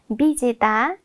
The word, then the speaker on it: विजेता: हेर्नुहोस् त, विजेता, विजेता, विजेता, यहाँ व लेखिए पनि हामी उच्चारणमा ब उच्चारण गर्छौँ, अथवा हामी पढ्दाखेरि ब पढ्छौँ।